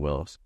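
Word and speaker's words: Willys: got 1950 on the whiton beach property 1950 Willis MB it's w l y s really called Willis but Los Willis in columia because that's how you pronounce it and so that's why we're Willie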